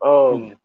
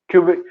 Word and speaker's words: Kubrick: Kubrick. Kubrick.